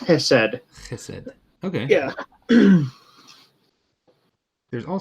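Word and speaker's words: חסד: It's Hesed. Chesed. It's that kind of throat clearing thing. I heard that used in a sermon not too long ago. Okay. So yeah, Steadfast loyalty. it's pronounced Hesed.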